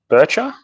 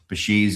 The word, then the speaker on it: Bichir: Bircher, just because we're Australian, we pronounce things wrong. Bichir is, I think Bichir is the right way to say it. I think Biker is the way the Latins pronounce it, because you know everything's scientific in Latin.